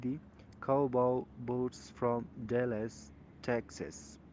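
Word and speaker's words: Texas: لاندې لیکل شوي دي: کاوباو بوټس فرام ډالاس ټیکساس، سوري ټیکساس، ټیکساس تلفظ کیږي، د غوا بوټان له ډالاس څخه.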